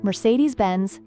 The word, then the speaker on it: Mercedes-Benz: It's pronounced Mercedes-Benz, just like that.